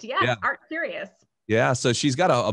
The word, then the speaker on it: ArtCurious: ArtCurious.